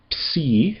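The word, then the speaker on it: ψ: And then uh the next one is P. And this one is always hard to pronounce. It sounds like the PS in lips.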